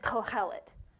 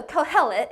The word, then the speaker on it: Kohelet: with your girlfriends okay so co-hell it co-hell it okay now say it with some stuff in your throat like cohel it yeah i'm kidding that's not even how you say it i just wanted to hear you do that okay yeah so kohelet is what he's called and it literally means